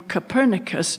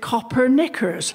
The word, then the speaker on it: Copernicus: A less scholarly person than myself, indeed an ignoramus, might look at the name Copernicus and mispronounce it Coppernickers, a garment of extreme discomfort due to its inflexible nature.